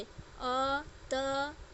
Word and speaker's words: अतः: और इसका उच्चारण ह की तरह बोला जाता है। जैसे अ, त, और इसमें विसर्ग लग गया तो इसका क्या उच्चारण हो गया?